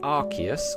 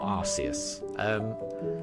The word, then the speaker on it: Arceus: So Pranjul, is it pronounced Arceus or Arceus? I think I alternate between the two. I think I tend to say Arceus, but I think either's fine.